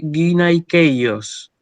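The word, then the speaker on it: γυναικεῖος: Bueno, vamos con la siguiente que le había causado una duda al compañero Luca, que dice guinaikeios, ¿sí? Esta palabra se lee guinaikeios.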